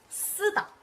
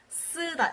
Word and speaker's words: 쓰다: It's a double consonant, but don't freak out. It's not that hard. It's just a double S. You can just pronounce it with one S, and it'll be basically the same for the S.